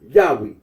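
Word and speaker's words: Yahweh: is one Deuteronomy 6:4 current scholarly consensus generally reconstructs the names original pronunciation as yahwe in the traditional interpretation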